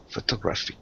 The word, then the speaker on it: photographic: me photographic almost almost to put the stress on the third syllable photographic I don't know I